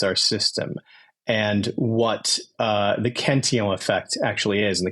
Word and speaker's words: Cantillon: Is that the correct French pronunciation there? As a former French instructor, I would say yes, it's the Cantillon effect. The best pronunciation in the Bitcoin space of that term.